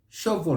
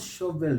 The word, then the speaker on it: shovel: out here now that this belongs to a group of words a category of words which have got that e l at the end that syllable but the e is not pronounced leave it out so we say chapel not chapel gospel not gospel novo not no avail shovel not shovel travel travel not travel